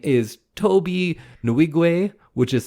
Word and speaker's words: Nwigwe: them all day long his name is Toby nuigwe which is spelled n-w-i-g-w-e and uh check them out there's